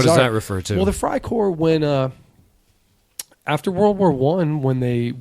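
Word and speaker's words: Freikorps: would be EI actually in German if you have an e and i the second letter is the one you pronounce yeah so fry would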